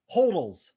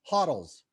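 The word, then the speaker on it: HODL: leads us to this one love this one hoddles hottles depending on how you say it huddle total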